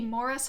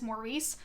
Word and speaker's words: Maurice: it's supposed to be Morris but my like American brain wants to say it as Maurice since that I feel like it's the more common pronunciation of that name in America regardless this is a